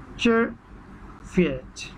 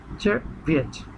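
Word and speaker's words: Czerwiec: June, জুনের এখানে বানানটা আগে প্রথমে দেখুন, CZERVIEC, চেরভিয়েচ, চেরভিয়েচ, চেরভিয়েচ।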